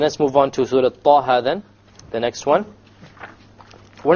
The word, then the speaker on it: Taha: Okay, both of them are two harakas long, so we pronounce it Taha, Taha. If we were to make it longer, it's a mistake. Ta or Taha, mistake. Each one has to be two harakas.